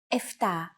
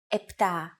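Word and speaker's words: επτά: standard pronunciation for numbers sometimes though especially in casual conversation Greeks also use efta instead of eptah octo instead of octo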